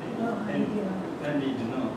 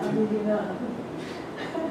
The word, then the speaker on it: Henri Dunant: Henri Dunant. Yeah. Please pronounce it in French way. Henri Dunant.